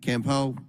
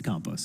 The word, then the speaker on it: Campau: federal government by Anthony Campo campau campus pronounce that for me it's compost there compost I mispronounced everything